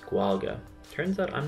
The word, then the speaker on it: Gaeilge: So the Irish language is sometimes referred to as Gaeilge, pronounced Gwalga. Turns out I'm not even doing that right. Gwalga.